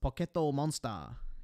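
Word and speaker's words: ポケットモンスター: he and these no it's pronounced poetto monster you have to add the poetto or however the the Japanese say it these guys like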